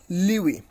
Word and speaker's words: lewe: So it is LEWE, Liwi. You can also pronounce you can also know the pronunciations of this particular word clicking on this on this sound icon.